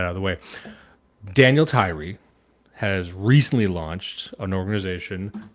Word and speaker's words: Tyrie: It is Tyrie, correct? It's not Tyrie? Tyrie, you got it right the first time.